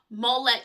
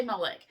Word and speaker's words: Molech: So, Molo, M O L O CH or Molech, M O I always say Molech, M O L E C, which I know is probably the southern translation, I mean pronunciation, originated with the Phoenicians.